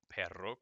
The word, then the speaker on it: perro: Little hints and tips as to how these things are pronounced, like two R's go r, perro, corren.